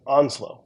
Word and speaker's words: Onsloow: Again, the name is spelled Onsloow, so it's a little weird, but Onslow, Full Speed Anywhere Else.